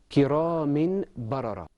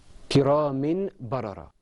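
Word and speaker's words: كرام بررة: The example we have is kiramin barara. This is how this word is usually pronounced. Kiramin barara. But in the Quran, because we have a noon, a tanween, followed by a ba, we say kiramin barara. Ahmed, did you hear the iqlab there?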